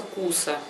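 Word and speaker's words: كوسة: Кабачок называется куса.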